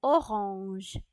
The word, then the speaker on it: orange: And orange in French is pronounced as orange.